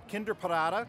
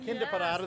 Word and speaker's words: Kinderparade: The Kinderparade, that's how you pronounce that. Kinderparade, the children's parade.